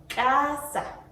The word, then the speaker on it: casa: Like casa, sounds like k. Okay, the pronunciation can be like casa, casa, casa.